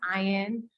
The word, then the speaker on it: Ian: uh my name is Ian um it's like Ryan without the r so you can remember